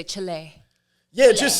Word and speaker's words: Chile: how do you say Chile the the country Chile thank you how do you say it Danny what she said cool cool cool I say Chile Chile so John get John gets really upset at